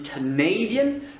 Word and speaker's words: Canadian: Parce que quand on dit Canadian, l'accent est déplacé vers le fond du mot.